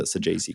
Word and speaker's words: Saggese: So how are you feeling about the Saggese call up?